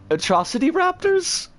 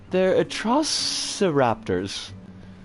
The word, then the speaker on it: atrociraptors: Yeah, they're atrocity raptors? That's not how that's pronounced, but they do sound like atrocities. They're atrociraptors.